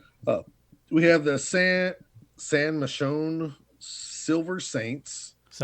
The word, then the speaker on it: Michon: Uh, we have the San Michonne Silver Saints. I guess that's how you, huh? San Michelle. Like, Michael, it's it's M I C H O N. Oh, San Michonne.